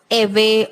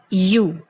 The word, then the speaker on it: ewe: Be very careful with the pronunciation of the word you. It is not eve or whatever comes to your mind. No, it is only and only you.